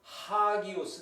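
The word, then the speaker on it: ἅγιος: 하지만 거친 숨 소리 표시가 붙어 있는 경우 에는 발음 할 때 "H" 소리 를 포함 해야 합니다 . 그게 바로 작동 방식 입니다 . 자 , 여기 있는 이 단어는 거친 숨 소리 표시 때문 에 발음 할 때 'H' 를 추가 합니다 . 그래서 그것 은 hagios 가 됩니다 . 만약 여기 에 이 거친 숨결 자국 이 없었다면 , 그것 은 아기오스였을 것 이다 .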